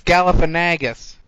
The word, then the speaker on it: Galifianakis: Forgive me if I pronounce this wrong. Zach Galifianakis? It's Galifianakis. Thank you.